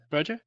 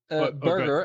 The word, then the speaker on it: Berger: Berger? Burger, actually, like the cheeseburger, almost.